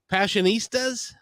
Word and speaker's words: Passionistas: i'm not sure but i think i can pronounce it let me give it a shot um passionistas all right you did it oh very nice